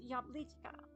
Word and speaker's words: jablička: How do you pronounce the I? Jablička. That's cute. For some reason, chka makes things cuter to me. Probably because in Russian it's to make things smaller, but it just sounds cute. Chka. It's pronounced yablichka.